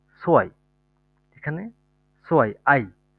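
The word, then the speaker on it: zwei: সেট, সেটের পরে হচ্ছে আপনার ভে, এ, ই, সোয়াই, এখানে সোয়াই, আই, সো, আই, ই আই থাকার কারণে শেষের আই এর উচ্চারণটা হয়েছে এখানে, আই ই হওয়ার কারণে এখানে ই এর উচ্চারণটা হয়েছে।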